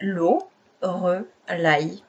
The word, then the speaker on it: Loreleï: Donc je dis souvent à mes clients c'est Lauraille, voilà, parce que ça s'écrit, voilà.